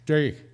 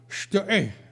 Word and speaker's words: Steg: He would pronounce it Steg, and I would say after him, Steg, and he would say, no, no, it's Steg. And I could never quite get it right, never did, with apparently proper German guttural sound.